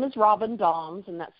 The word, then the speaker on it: Dahms: or your company so my name is Robin Doms and that's spelled d a h em is and Mary